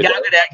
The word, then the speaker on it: Gal Gadot: I always say her name wrong. Which The one? one- What? Gal Yeah, Gadot. Gal Gadot.